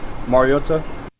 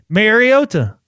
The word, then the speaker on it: Mariota: Not Mary, like Mario, Super Mario Brothers.